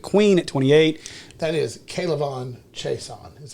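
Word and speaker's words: K'Lavon Chaisson: That is Kalavon Chason, is how you say I that.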